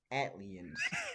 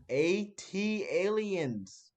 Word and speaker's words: ATLiens: As Kelvin pronounces it, Atliens. The Man, actual pronunciation, I ATLiens. was trying to save myself. Eight, wait, 18, huh? AT Aliens. Just say AT, AT Aliens.